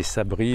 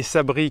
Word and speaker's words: Sabri: Allez, Sabri, qui se prononce comme Sabri le Kiff, qui se présente comme Sabri le Kiff, apprenti padawan de la méthode Marshall.